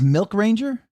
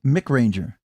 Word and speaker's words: Milk Ranger: Uh, it's milk ranger. Milk ranger, not mcranger. Am I I've always been pronouncing mcranger. Have I always been doing it wrong?